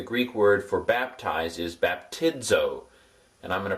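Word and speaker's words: βαπτίζω: Like the word suds. Hear the dz sound in suds.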